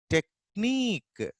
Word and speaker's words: technique: Then at the end position, see here ka sound can be pronounced with a different alphabet. Here we have C, here we have K, and here we have QUE. technique. Even ka, ch also is pronounced as ka. Technique.